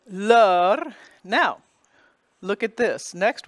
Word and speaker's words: leur: The E-U-R spelling opens it up. You have a sounded consonant. It's in the interior of the word. The S is silent, nothing after it to create a liaison. So, leur.